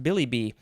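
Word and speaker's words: billibi: is this billy billy b i think it's pronounced billy b b-i-l-l-i-b-i um and it looks like there's a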